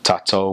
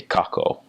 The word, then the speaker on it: tatau: that um T's like T's and K's are interchangeable. So, you speak in T's um when it's more of a respectful setting as if you're giving um a thank you speech or if you're bearing testimony or speaking in church, they would use T's such as like um um tatau would be which means we um they could interchange it with K's and say kako which would mean we and